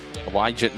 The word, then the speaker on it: Wygett: Wygett, remember we said, the I is silent, or the G is silent.